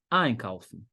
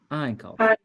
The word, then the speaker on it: einkaufen: Quando você tá usando o verbo ali sem conjugar ainda, ele no infinitivo, a sílaba tônica recai em cima do prefixo. Então, é einkaufen. Einkaufen.